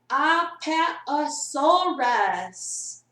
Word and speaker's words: Apatosaurus: Apatosaurus. Time period, Jurassic. 1 million years ago. 201 million years ago. 201 million years ago. Yeah, That's a lot of years. Diet herbivore. An Apatosaurus was a giant dinosaur that had to eat